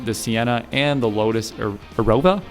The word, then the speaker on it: Evora: Yes, the 3.5 L V6 from the Camry, the Sienna, and the Lotus Arova. Evora Evora, I think that's how you say it.